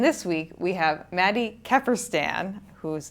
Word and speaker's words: Kefferstan: And this week we have Maddie Keerstan, whose name I think I pronounced correctly.